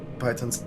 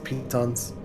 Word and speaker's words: piton: I can get your pythons out, pitons. I do not remember how they are pronounced in common. Triton. Sure. Let me see. Piton. Piton, as Google says.